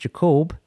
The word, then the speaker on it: Jacob: Phil, don't take no offense to it, but it's actually pronounced Jacob. Jacob is my name.